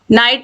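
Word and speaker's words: knight: के तो देखिए नाइफ नाइफ मतलब चाकू जिसमें के साइलेंट है नॉक मतलब दरवाजा खटखटाना नाइट मतलब योद्धा के एन आई जी एच टी नॉलेज मतलब ज्ञान इन सभी में जो के है ये साइलेंट है क्वेश्चन नंबर 68 है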